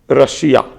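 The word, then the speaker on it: Russia: देखिए इंग्लिश में हम इसको बोलते हैं रशा, ठीक, और हिंदी में बोलते हैं रशिया, है ना, रूस जिसको बोलते हैं, तो वही है। तो ये रशा इसका प्रोनाउंसिएशन होता है।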